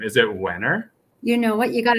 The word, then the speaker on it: Wehner: don't think i have ever properly got the pronunciation of your last name is it winner you know what you got it exactly right